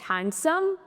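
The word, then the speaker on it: handsome: Next हैंडसम नहीं होता है। इसमें भी डी ही साइलेंट है तो इसको हैंडसम बोला जाता है।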